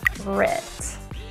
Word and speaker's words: favorite: a tricky word so think of it like fave red face red now I didn't see the o or any sound of the middle no vowel sound just the two fave favorite let's put them closer face writ and together favorite the issue generally is